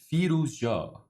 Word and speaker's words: Firouzja: and bowties live that the correct pronunciation is fetal job a very reliable Iranian